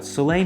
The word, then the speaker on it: Soleil: Did you know it's pronounced Sulay? I found that out. Sulay means sun in French.